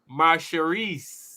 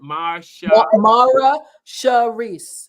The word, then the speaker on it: Mara Sharice: It's pronounced, she hyphenated it for us, Marsharis. Is that how you pronounce it? Mara Sharice. Mara Sharice. Yes. Mara Sharice. Yes, Mara Sharice. I like it. Yes. There's another R in there.